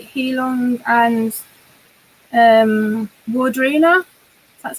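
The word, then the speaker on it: Heilung: I always say to people, "Oh, do you want to come and see like Heelong and Wardruna?"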